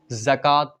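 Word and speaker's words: زکوٰۃ: मैं समझा दूं कि उर्दू में कुछ लफ्ज ऐसे होते हैं जिसमें कभी-कभी वाव साइलेंट होता है कुछ ही लब्ज ऐसे होते हैं जिसमें वाव साइलेंट होता है यहां पर जक लिखा हुआ है लेकिन इसे जकात पढ़ा जाएगा जकात गरीबों को रुपए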